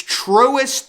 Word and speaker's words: Truist: You actually look it up and look up the pronunciation. I saw a commercial today and it's Truist Park.